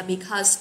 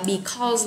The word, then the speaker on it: because: Cho nên chúng ta sẽ chọn từ due to mà không có chọn được là because, các bạn lưu ý ha. Cái từ này đừng có đọc là because là nó dở đi, nghe nó không hay ha, mình đọc là because, ok.